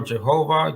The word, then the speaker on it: Yahweh: the Divine name the four-letter word pronounced as Yahweh or Jehovah it doesn't really matter he says I am